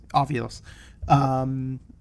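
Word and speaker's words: Ovilus: Ovulus.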